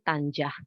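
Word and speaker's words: طنجة: Lalu kemudian dalam bahasa Arabnya itu Tanjah. Tapi dalam bahasa Inggrisnya itu dibacanya memang Tangier.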